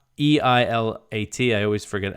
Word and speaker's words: Eilat: So Israeli officials said that there was a missile fired from Yemen towards the Israeli port of Eilat. That was Eilat, E-I-L-A-T. I always forget how to pronounce that.